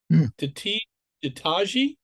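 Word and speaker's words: Ditaji: And her little sister, Tataji, is that how you say it?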